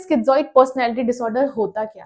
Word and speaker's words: schizoid: Topic है वो है स्किजोइड या फिर आप सीजोइड भी बोल सकते हैं। मैं इसे स्किजोइड प्रोनाउंस करती हूं।